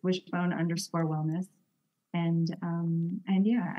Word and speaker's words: Wyshbone: to my website um wishbone is spelled a little bit uniquely it's spelled w y s HB o n e and that's because wish the Y is shaped like a wishbone so that's easier to